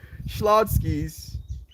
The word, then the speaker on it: Schlotzsky's: yes um what happened Schlotzsky's that's how I'm supposed to say it Schlotzsky's ah thank you